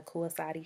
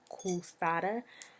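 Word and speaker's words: Koasati: My family is from the Kuasati tribe, or as the Europeans mispronounced it, Kusada.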